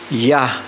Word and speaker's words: Yah: Yah, dahil yun ang tamang pagbigkas.